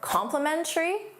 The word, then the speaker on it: complimentary: Now notice the pronunciation is the same.